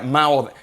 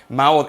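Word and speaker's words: מאד: en la pantalla y se pronuncia de esa manera mao mao entonces cuando la biblia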